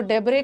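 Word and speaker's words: debris: वगैरह लगने लगता है तो डब्रे का मतलब होता है डेब इस में एस साइलेंट है मलबा य और ग्रोटे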